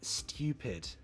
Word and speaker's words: stupid: my god i hate phonetics stew pid like stupid you could say stew that's the sound we're